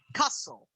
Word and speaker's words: castle: the beach um very careful with the pronunciation because the pronunciation of this word is castle castles no castle cancel the tea very good okay okay